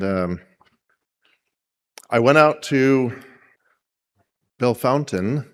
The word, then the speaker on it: Bellefontaine: And um I went out to Belf Fountain. It's I would pronounce it Belf Fontaine, but the locals call it B Fountain.